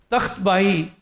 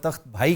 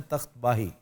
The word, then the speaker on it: तख्त बाही: तख्त बाही यहाँ का एक लैंडमार्क है, जिसको आमतौर पे तख्त भाई कहते हैं। ये मिसप्रोनाउंसिएशन है, तख्त बाही।